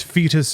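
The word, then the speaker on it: Feetus: It was spelled like feet, F-E-E-T-U-S, fetus, and then deletus, like all one word.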